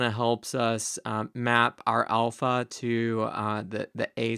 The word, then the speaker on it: alpha: This is ah as in father. And so this kind of helps us map our alpha to the A sound in English.